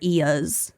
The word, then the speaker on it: eaz: Well, it's it was spelled as e a z Mhm. and a couple different sources said they pronounced it as is, ease, or eas. Okay. I'm going to go with eas because that was the first source that I found.